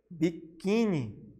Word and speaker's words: biquíni: Temos também a palavra biquíni. O quim, né? Mais forte, né?